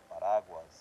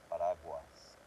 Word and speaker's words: paraguas: So that's paraguas, it has an A, so it doesn't really need the dièresis on here. Paraguas. So each letter is pronounced on its own.